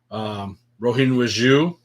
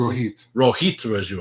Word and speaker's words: Rohit Raju: Petey Williams was involved, the current champion Josh Alexander, Chris Bay, Rohin Raju. Is that how you pronounce it? Rohit Raju, I'm sorry.